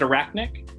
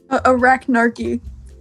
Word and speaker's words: Arachnarchy: Did I pronounce that right? Is it Arachnic? Arachnarchy. Arachnarchy.